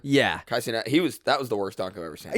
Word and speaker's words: Kai Cenat: Kai Cenat.